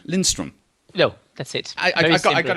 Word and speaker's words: Lindstrom: I can't get your surname wrong, can I? Lindstrom.